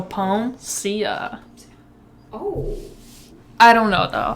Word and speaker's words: Peomsia: I feel like it's pronounced Peomsia. Where are you getting ja? I don't know. I just feel like I can't think of a word. You know that famous artist, Sia? Yeah. See, so Peomsia.